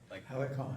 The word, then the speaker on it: Helicon: Helicon? Helicon. Yeah. Okay, there's no I in there. There is. Heli- Helicon. Helicon. Like helipad, Okay.